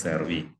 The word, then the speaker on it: servi: But for the second declension noun, genitive singular is ending in e or English alphabet I. Servus, servi. That noun, the form of noun given in the dictionary is like this: servus, then hyphen English alphabet E, English alphabet I, as pronounced E.